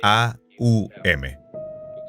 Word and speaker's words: Om: Los hindúes usan la palabra Om, que se pronunciaría A-U-M, porque la letra A va detrás de la garganta. La empujas a través de la vocal hasta Aum. La M es labial.